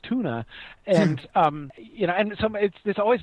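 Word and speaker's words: Túna: is on, which is Tuna, Tuna, and even puts the stress on the U so that sometimes people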